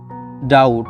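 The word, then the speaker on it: doubt: কনসোনেন্টের পর বিটি এর উচ্চারণ ট, এক্ষেত্রে বি অনুচ্চারিত থাকে। বুঝতে পারলেন? উদাহরণ দেখলে আপনি বুঝতে পারবেন আরও। উদাহরণটি হচ্ছে ডাউট সন্দেহ, ডাউট সন্দেহ। পরেরটি হচ্ছে ডেট ঋণ, ডেট ঋণ। বি কিন্তু অনুচ্চারিত থাকছে।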